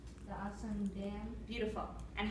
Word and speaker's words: Aswan: The main topic is, that I think it is the, how do you pronounce it? Aswan? The Aswan Dam.